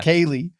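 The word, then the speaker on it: Cailee: Oh, Kaylee. Yeah, Kaylee. It like rhymes with Ellie.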